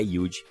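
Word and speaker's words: Youd: nosso amigo do Playstation mas se escreve você em inglês you com um d mudo no final e o resultado é yud vale a pena conhecer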